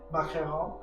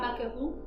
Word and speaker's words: macaron: Macaron? Oui. Pas macaron, macaron.